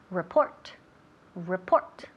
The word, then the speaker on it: report: El primero, que no decimos rrr. Ok, quita el sonido rrr, quitamos eso. R. Y también el acento, o sea, el énfasis recae en la segunda, no la primera, pero la segunda sílaba. Report.